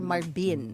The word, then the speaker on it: Marvin: I had to ask him is your name pronounced Marvin or Marbin? Mhm. Yeah. So he said it's Marvin. Marvin. Marvin with a B.